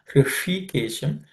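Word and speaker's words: ऋषिकेशम्: Hrishikesham, the sh is cerebral sh.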